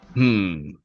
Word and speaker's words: Simile: Smile is spelled Simile, as if to say simile.